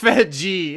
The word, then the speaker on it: Fedje: Andrew Fedje, conduit of it's pronounced Fedji itself.